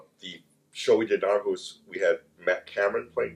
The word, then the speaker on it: Aarhus: Is that the correct way to pronounce it? Aarhus? Aarhus, yes. Aarhus.